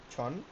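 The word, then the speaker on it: 천: ছন হচ্ছে, যদিও ছয় দন্তান্ন লেখে আর উচ্চারণ হবে ছন, ছয় ছয় দন্তান্ন, ছন।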